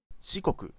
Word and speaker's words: Shikoku: Shikoku, I think the if I remember correctly, the Japanese I sound is pronounced like E, unless obviously it comes after an A like this, like Hokkaido, Kansai.